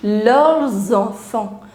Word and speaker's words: leurs enfants: So you will start pronouncing this S as well. It becomes leurs enfants.